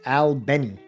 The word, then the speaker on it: Albany: Southwest Georgia city of Albany pronounced Albany by locals where Snick organizers and